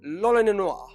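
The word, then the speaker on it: l'Olonnais: So because of the L and the R situation, Lolonois ends up sounding like Roronoa, and that is the only reason I can say Lolonois.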